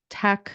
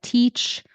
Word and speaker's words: Good Tech Fest: here's the coupon code good Tech it's not teach it's Tech it's not Feast it's Fest good techfest apply give